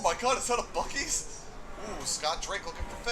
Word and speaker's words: Buc-ee's: Buc-ee's that they mispronounce. What do they call it? You're not gonna like this. They call it Bussies. What? Buc-ee's. They call it Bussy. What's Buc-ee's? It's a convenience store chain